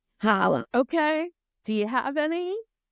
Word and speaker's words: challah: And she was like, it's pronounced challah. Holla.